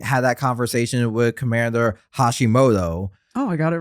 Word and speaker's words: Hashimoto: I like at the end when Captain McVeigh is talking to Commander Hiroshima.